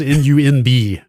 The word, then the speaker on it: Nunb: It's N-U-N-B. How the hell do you pronounce that?